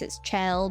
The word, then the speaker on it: Chell: It probably says something that the cube that Chelle and yes it's Chelle. Don't argue with me about pronunciation in the comments, but the cube Chelle